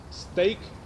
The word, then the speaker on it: steak: Teraz ulubione słowo z całej ferajny, steak. Kiedy zastanawiałem się, jak je ugryźć, pomyślałem sobie, że rymuje się ze słowem take, bo trzeba najpierw go